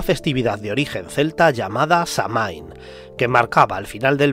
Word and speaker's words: Samhain: el solsticio de invierno, Samhain, cuya correcta pronunciación sería Samhain, era visto como un